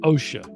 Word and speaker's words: Osha: you say her name Osha Osha I I should think of like like the occupational safety and health yeah okay so she